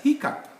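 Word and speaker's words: hiccough: produce old sounds okay when we write like this we shall read it as hiccup there is no p but that's the sound in both variants and this one is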